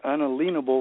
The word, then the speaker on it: unalienable: You and I are about the only two that ever say that they're unalienable rights. Yeah, that's right. Actually the right pronunciation.